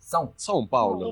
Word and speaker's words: São Paulo: Digamos, pronuncie una A y una U unidas. Au, Sao, ¿sí? Ahora Sao hágalo Paulo, nasal. Son. São Paulo, Listo.